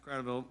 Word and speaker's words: Kratovil: Kratovil, or did I pronounce it right?